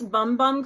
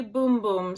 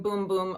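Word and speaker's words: Bum Bum: my Sephora box arrived you know I've been pronouncing this bumbum cream and then people keep on commenting and saying that that's not the way you pronounce it it's actually boom boom so get excited cuz you're gonna be hearing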